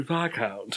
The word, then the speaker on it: viscount: Yeah, there was like, I listened to the English version, and it was like, oh, Viscount.